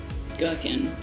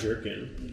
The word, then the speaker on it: gherkin: It's not like pickles, it's not like gherkin. It's nothing like that, right? Gherkin? Like a cucumber. I thought it was pronounced jerkin. No, it's definitely not pronounced jerkin.